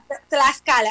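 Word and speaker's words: Tlaxcala: vamos a ver si si es así que se que se pronuncia la la la la palabra eh tascala tascala tascala clascala tlascala estamos desde tlascala y antes de que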